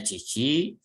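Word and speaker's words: 父: akan menelpon ayah Hai ini dibacanya Cici karena tidak ada Oh sebelumnya ya kalau ada Oh sebelumnya Nanti dibaca dibacanya menjadi otosang artinya Ayah kamu nidn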